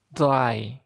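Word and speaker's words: drei: Terus angka 3 D R E I. E i dibaca ai i dry.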